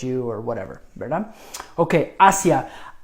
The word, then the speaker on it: hacia: Okay, hacia. Hacia, pronounced hacia. There is another word, hacia, with an accent on that I, and that's a past tense, the imperfect past tense of the verb hacer, to do or to